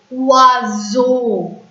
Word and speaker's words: oiseau: If you see, OI is a vowel sound, EAU is a vowel sound, so yes is pronounced as is. Oiseau.